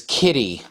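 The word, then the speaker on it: Kiti: Okay, so the mandrill, his original name is Kitty. It's not spelled like kitty, like a cat, okay? But it is pronounced that way, but it's spelled K-I-T-I.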